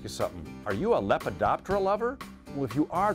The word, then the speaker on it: Lepidoptera: So am I saying it right, Lepidoptera?